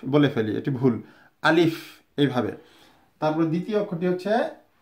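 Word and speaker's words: ألف: সো আলিফ যখন বলবো তখন আলিফ বাতাসটা বেরিয়ে আসবে। আলিফ, দেখুন আমার ঠোঁটের দিকে আলিফ, আলিফ। আমরা কিন্তু অনেকে আলিফ বলে ফেলি, এটি ভুল। আলিফ এইভাবে।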